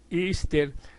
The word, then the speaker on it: Easter: la Pascua de resurrección y que se pronuncia ister se remonta a la